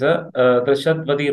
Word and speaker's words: Drishadvati: important river, that is Drishadvadi River. So Drishadvadi is basically the largest tributary of Saraswati, and it's have a beautiful name called Drishadvadi, which is rhyming with Saraswati.